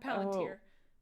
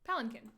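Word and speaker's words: palanquin: wood has legs that has a Quinn in it that is pronounced can instead of Quinn uh Palin not palantir palenkin palanchin sure yeah I think that's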